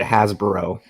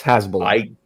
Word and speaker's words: Hezbollah: You said you pronounced it Hasbro, like Hasbro, the toy company. It's Hezbollah. Hezbollah.